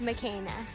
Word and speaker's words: Makena: My doll's name is actually pronounced Makena.